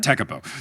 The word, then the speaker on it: Tekapo: So yeah, this time we did Queenstown, we did Wanaka, then we did like, is it Tekapo? I said it wrong at the last one. Tekapo. So we did Lake Tekapo and Lake Pukaki.